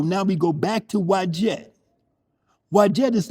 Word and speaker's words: Wadjet: Wadjet. Wadjet. Thank you very much. Okay. So now we go back to Wadjet.